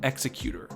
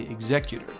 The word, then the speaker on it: Executor: the Super Star Destroyer Executor as opposed to Executor, as in a guy who chops off heads for a living, which seems more fitting.